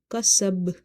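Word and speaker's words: كَسَبَ: Kaf fatha ka, sin ba fatha sab, kasab, kasab. Bounce the ba, kasab.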